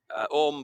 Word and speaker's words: Orme: Orme, by the way, is spelt O-R-M-E, and it derives from an Old Norse word for serpent, or serpent's head.